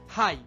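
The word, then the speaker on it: high: হাই, হাই শব্দটিতে কিন্তু আইজিএইচ pattern follow হচ্ছে, যার কারণে আমাদের শেষের জিএইচ কিন্তু সাইলেন্ট হয়ে গেছে।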